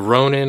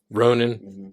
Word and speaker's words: ronin: he is a uh a ronin or a ronin however you want to pronounce it uh it's Ronan a samurai without a